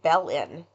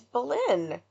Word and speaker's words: Belen: did on this case, and both of them pronounced it Belen. Yeah. And I was like, it's Belen.